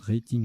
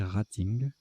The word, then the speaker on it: rating: Moi, je prononce rating à l'anglaise, mais là, apparemment, il faut prononcer rating.